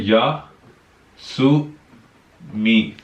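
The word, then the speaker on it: 休み: तो जो ये कांजी बताऊंगा मैं, इस कांजी का जो मेन प्रोनाउंसिएशन है वो यासु है, देन इसके बाद मी लग जाता, तो ये पूरा बन जाएगा यासुमी।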